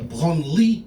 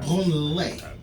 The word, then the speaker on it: Branly: The Branly Museum. It's pronounced Branly, not Branley.